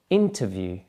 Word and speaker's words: interview: And the next one, interview. Can you hear that the stress is on the first syllable?